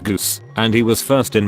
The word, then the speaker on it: Gus: His nickname was Gus, pronounced Goose, and he was first in my English 1 class.